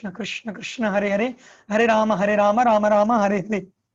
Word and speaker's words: Rama: Hare Krishna, Krishna Krishna, Hare Hare, Hare Rama, Rama Rama, Hare Hare. It's not Ram, it is Rama. It's not Hare Ram, Ram Ram, Hare Hare. It's not Ram, it's Rama.